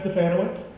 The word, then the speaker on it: Stefanowicz: And since Melinda told us a little bit about her personal background, I'm Stefanowicz. It rhymes with Bananowicz.